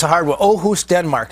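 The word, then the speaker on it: Aarhus: of continent is I don't know how to pronounce it it's a hard one ohus Denmark it's ohus Denmark it's the second biggest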